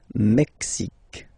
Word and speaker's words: Mexique: Mexique. It's really the X. Huh? Le Mexique. And then remember this Q-U-E, it's only K. Mexique.